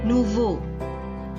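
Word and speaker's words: nouveaux: The X is silent, it is not pronounced. Nouveau.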